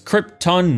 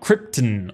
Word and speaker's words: Krypton: that we're introduced to brando's pronunciation of krypton and i hate it it's krypton marlon not krypton or whatever the heck you're coming up with anyways zodness cronies get